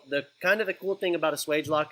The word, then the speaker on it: Swagelok: Swagelok. Swagelok. So swage is like what you do. You swage it, and then when you swage it, it locks. So the cool thing about a Swagelok, it's a flareless fitting.